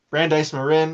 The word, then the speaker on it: Brandeis Marin: did a study of I believe it was Brandeise Marin in the Bay Area. Um Brandeise Marin, I sorry if I'm mispronouncing Brandise Marin.